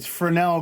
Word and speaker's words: Fresnel: It's apparently it's Fresnel globe, not Fresnel. I'm kind of saying it as it's spelled because, you know, I'm dumb that way.